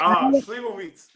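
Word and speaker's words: slivovitz: Your the culture, you know, Plum Brandy, I looked it up, means, and I can't say Sleevovic, that's how you say it.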